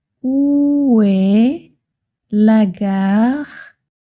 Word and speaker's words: gare: Le mot gare se prononce presque comme le début du mot garden en anglais.